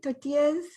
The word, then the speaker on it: tortillas: a package and flour tortillas that you make, completely different smell. Yeah. Isn't that, like, say that again. Tortillas. Tortillas? Yeah, you got it. Tortillas. You gotta roll your R like.